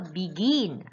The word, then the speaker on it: begin: For example, begin. You stress on gin. So you have to double the N.